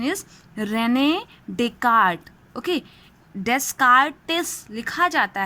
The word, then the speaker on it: René Descartes: The spelling of his name is this one, but its pronunciation is René Descartes. Okay, Descartes लिखा जाता है, but René Descartes is the pronunciation of this name.